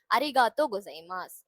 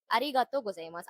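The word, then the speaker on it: ありがとうございます: இந்த வேர்டோட மொத்த ப்ரொனன்சியேஷன் வந்து அரிகாத்தோ கொசைமாஸ். அரிகாத்தோ கொசைமாஸ்.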